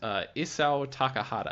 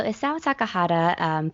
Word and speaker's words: Isao Takahata: HT, tell me about Isao Takahata. I think that's how you pronounce his name.